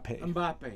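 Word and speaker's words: Mbappé: Mbappe.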